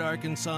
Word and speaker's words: Arkansas: On your favorite Arkansas sports talk station.